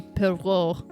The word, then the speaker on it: Poirot: There's a way they say it in the movie that was like, like oh, Pierrot. that's how you say it. Oh yeah, Pierrot. Pierrot. I don't know. Pierrot or Clearly we're something not like French. that. Pierrot. Yes, Poirot.